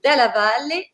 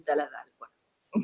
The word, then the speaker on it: Dalla Valle: Et en italien, c'est Dalla Valle et en français, on dit Dalla Valle.